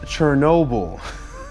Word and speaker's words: Chernobyl: watching my show yeh it's pronounced Chernobyl I think it's because I was getting it confused with Ginobili Manu Ginobili I think probably the scene